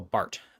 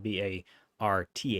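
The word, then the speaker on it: Barth: Uh another figure that you will hear talked about a lot is uh Carl Bart. His name is spelled B A R T.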